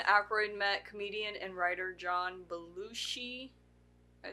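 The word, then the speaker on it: John Belushi: during this time Acro met comedian and writer John balushi I say that right yes okay who had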